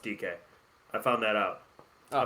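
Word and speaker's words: Dike: Dyke. Hey, it's actually pronounced DK.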